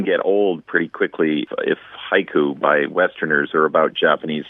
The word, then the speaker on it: haiku: And to illustrate that point, the word haiku itself is 2 syllables in English, but counts as 3 sounds in Japanese, haiku, even though they don't say it that way.